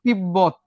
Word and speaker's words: তিব্বত: আবার দেখো তিব্বত, তিব্বত, দুইটা বয় উচ্চারিত হয়েছে। মুরব্বি, মু, র, বি, দুইটা ব উচ্চারিত হয়েছে।